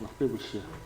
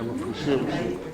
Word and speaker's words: Mephibosheth: Mephibosheth. Mephibosheth. Huh? Yeah, they say it fast. Mephibosheth. Mephibosheth. That's the correct. Pronounce his name? Yeah, Mephibosheth.